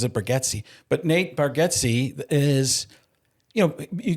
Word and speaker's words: Bargatze: You can make somebody could have told Nate Bargatze he's got to be, or I think he pronounces it Bargatze, but Nate Bargatze is, you got to have some more edgier.